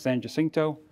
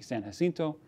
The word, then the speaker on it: San Jacinto: Depends on how, you know, different pronunciation, different ideologies. If you're from Texas, San Jacinto. If you're not, or if you're Mexican-speaking or Spanish-speaking, San Jacinto.